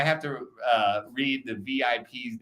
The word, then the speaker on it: VIP: you clubbing in China I don't have any sympathy for the Chinese inability to pronounce v because it exists in Chinese dialects okay Shanghai has it right it's there Chinese people just say weip I'm saying VIP when I have to